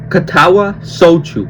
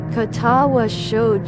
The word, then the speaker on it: Katawa Shoujo: Katawa sou. Okay. So that's how you say it. Okay. How do you say it slow? Katawa sho.